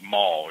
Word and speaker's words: mal: So now, mal is almost like mall, you know. M-A-L-L. Okay. You pronounce the A a little bit more instead of O, you know, like a mal. Mal. Yeah, like mouth. There you go. Like mouth or mouse? Mouth, as my mouth.